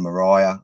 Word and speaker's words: Moriah: a lot more on Moriah. I didn't even realize that the Temple Mount in Jerusalem is Mount Moriah, you know, Maria. Yep. They even pronounce it Maria. Yep. It's even the same pronunciation.